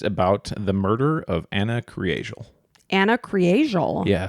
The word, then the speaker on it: Kriégel: Today's story is about the murder of Ana Kriégel. Ana Kriégel. Yeah. So it looks like Kriegel. Like if Okay. you're just looking at it, Kriegel. But it's pronounced Kriégel.